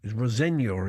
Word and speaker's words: Rosenior: Yeah, we now know that Rosenior is the correct pronunciation.